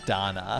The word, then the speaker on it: Dana: and thank you for that, is that I mispronounced the name of the game, and it's Lacrimosa of Dana, not Dana.